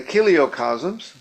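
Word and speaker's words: chiliocosms: And the kiliocasms, thank you, John, for teaching me how to pronounce this.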